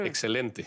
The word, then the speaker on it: excelente: Excelente.